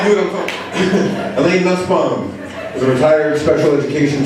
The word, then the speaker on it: Nussbaum: Elaine Nussbaum, and Donnie told me not to say this, rhymes with fussbomb.